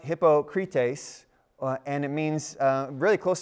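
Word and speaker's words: hypokrites: TV here because I love this word it's pronounced hypocrite ace and it means really close to our word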